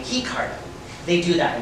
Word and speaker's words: Ricardo: they pronounce his name he card they do that in Brazil they pronounce their eyes like agents they even say hiyo